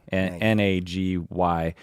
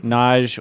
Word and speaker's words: Nagy: It's spelled Nagy, Nagy.